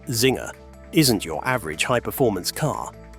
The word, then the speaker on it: Czinger: TheQinger 21C, pronounced Zinger, isn't your average higherformance car.